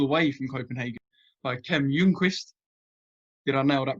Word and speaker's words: Ljungquist: via zoom pull away from copenhagen by kim jungquist did i nail that pronunciation that's perfect thanks man nailed it kim